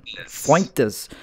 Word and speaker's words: Fuentes: Fuentes.